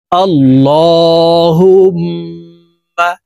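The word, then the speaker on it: اللهم: আল্লাহুম্মা, এই আল এখানে এই লামকে ল বলে উচ্চারণ করতে হবে, কারণ আল্লাহ শব্দের আগের হরফে জবর আছে, এই কারণে এই লামকে ল অর্থাৎ মোটা ভাবে পড়তে হবে।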